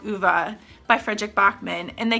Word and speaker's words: Ove: So they ended up picking A Man Called Uva by Frederick Bachman, and they kept saying A Man Called Ove, which I know even